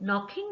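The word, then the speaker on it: knocking: नॉकिंग एट the door नॉकिंग में अब के हमारे पास साइलेंट हो जाता है नॉक के आवाज होती है तो हम यहां पर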